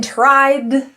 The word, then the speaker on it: tried: The D in tried links to the th which is our voiced th. We're going to put our tongue out and add our friction z.